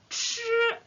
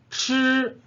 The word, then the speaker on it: 吃: 吃 Manger. 吃 must yeah you must roll your tongue okay 吃吃 yeah cannot be